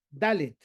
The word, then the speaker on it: Dalet: ¿Cómo se pronuncia la letra Dalet? Poniendo la lengua por detrás de los dientes de la mandíbula superior. Dalet, ¿ok?